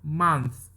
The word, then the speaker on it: month: Bukan mo tapi ma. month.